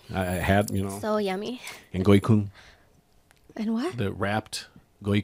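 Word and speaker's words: gỏi cuốn: And goi kun. And what? The wrapped goi kun. Goi kun. Maybe I'm saying it wrong. Oh, come on. That's the very Goi kun? Go-ik-one?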